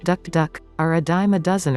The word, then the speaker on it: tuk-tuk: than it appears alternatively tuk-tuk vehicles pronounced duck duck are a dime a